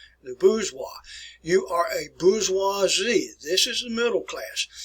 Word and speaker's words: bourgeoisie: And this first word is pronounced as bourgeoisie.